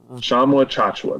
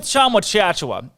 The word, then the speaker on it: Tchamwa-Tchatchoua: Tchamwa-Tchatchoua. There we go. Just like it's spelled. Oh, yeah, exactly like it's spelled, with just more consonants. He's, without a doubt, with Tchamwa-Tchatchoua, I think it's consensus that he's better than Flo Thamba.